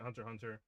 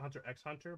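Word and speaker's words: Hunter × Hunter: I'm stopping it Hunter Hunter because I think it's official pronation. I usually pronounce it Hunter X Hunter, but um I don't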